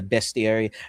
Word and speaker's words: bestiary: creatures included in the bestiary. I said bestiary, not bestiary, so I can finally um, absolve myself of the wrong pronunciation I used in the ads.